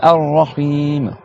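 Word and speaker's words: الرحيم: Et après, Ar-Rahim. Donc là, c'est pareil. Ar-Ra. Donc tu as toujours la shadda sur le Ra. Et après, Him.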